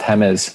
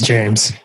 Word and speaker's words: James: he go from reality it's james please not hammers how did he go from speaking's actually pronounced hammers no we speak english here so it's james i think i would know how my name is pronounced oh he's actually echoed